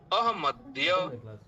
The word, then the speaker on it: अहमद्य: शब्द का उच्चारण क्या होगा? अहमद्य, अहमद्य।